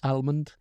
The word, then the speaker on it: almond: cashew Armond thank you a lot of people I know pronounce the L in Armond and I think almond oh I'm not American